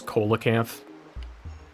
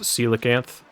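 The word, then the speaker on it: coelacanth: Uh, when I was younger, I used to always pronounce it as colanth cuz that's how it's spelled. Feel like a lot of people did that. Uh, I thought it was stupid that it was pronounced celacanth.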